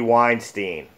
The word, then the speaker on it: Weinstein: The return of the unfortunate darker side of Hollywood, the casting couch, in the form of Harvey Weinstein. Did I pronounce his last name?